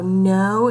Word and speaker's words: know: your video alright so know is one of our lemon woods this week and you have to know that it has a silent K at the beginning and Oh W says